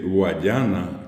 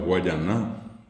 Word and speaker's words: Guayaná: El nombre de Guayana, que en realidad bien pronunciado es Guayaná, ¿verdad?